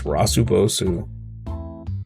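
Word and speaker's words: ラスボス: There was a Japanese mall with a Game Center sign written in katakana, pronounced as Rasubosu, which means the last boss.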